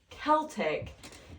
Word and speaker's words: Celtic: oh yeah and and it's so it's technically pronounced Celtic and McCary was very confused because she was